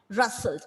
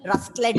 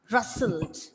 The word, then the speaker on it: rustled: I don't want to hear any rustlet and all. Okay. It is rustled. Again here, the letter T is silent. Okay. Letter T is silent and you read the word as rustled.